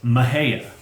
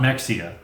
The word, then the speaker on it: Mexia: think we did anyway Emme x IA is pronounced mihaela not Mexia no mejia a travelin